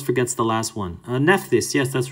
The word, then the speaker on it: Nephthys: more everyone always forgets the last one uh nephthys yes that's right nissarin kamal there it is